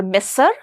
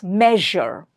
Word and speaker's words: measure: It's not measure or messer, it's measure.